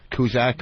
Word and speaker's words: Cusack: It was with Billy Bob Thornton and John Cusack. Kuzak or whatever the fuck. That's how it's pronounced in some countries. Before they came to America, it was Kuzak.